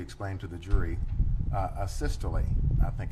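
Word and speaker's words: asystole: Uh a sisterly I think it's called. Um am I pronouncing that right by the way? Acisty. Yeah. Yes. Would you spell that for ladies and gentlemen of the jury?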